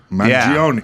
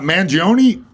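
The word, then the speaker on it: Mangione: ided as Luigi Mion oh mangion Manion it's not mangion I was like excited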